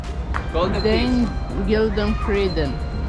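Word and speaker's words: Den Gyldene Freden: Den Gildenfreden.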